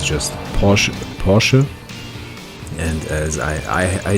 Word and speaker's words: Porsche: when you say it in a very clean german you don't pronounce the r it's just posh porsche and as i i just had noticed that english-speaking people would either say porsche which is just wrong